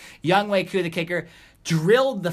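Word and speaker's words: Younghoe Koo: cool I don't I I made sure I'd know it because I wanted to say it right I didn't want to say young Hoku or anything like that young wake who the kicker drilled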